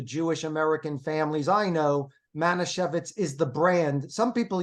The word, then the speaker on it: Manischewitz: How do you pronounce it? Manischewitz.